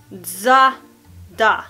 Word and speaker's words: Zara: Men Zara uttalas egentligen Zada. D-Z-A-H. Zada. D-A-H. Da. Alltså da.